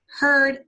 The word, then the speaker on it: heard: look for inside shells heard past tense of here right I know you see the EE AR it's not pronounced ear okay like in here it's not it's an earth sound so you can say